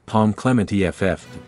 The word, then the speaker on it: Pom Klementieff: here are some additional details Clemente's name is pronounced Palm Clement eff she is fluent in French English and Korean